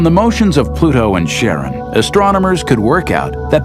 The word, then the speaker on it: Charon: christie suggested the name karen after the ferryman of Pluto's underworld in greek mythology but preferred to pronounce it sharon more like his wife's name charlene from the motions of pluto and charon astronomers could work out